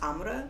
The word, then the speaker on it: Amr: how to pronounce it and he said it's pronounced amudha and he's like you're the first person in